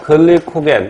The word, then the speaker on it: 글리코겐: 나중에 또 나오는데 포도당을 간에서 글리코겐 또는 글리코젠이라고 발음하는데 포도당은 단당류이고 글리코겐은 다당류, 그러니까 단당류가 여러 개 결합되어 있는 다당류.